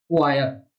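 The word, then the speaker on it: choir: क्वायर। हिंदी मेरी थोड़ी सी ऐसी है देखो, लेकिन याद कर लीजिए इसकी प्रोनाउंसिएशन है क्वायर।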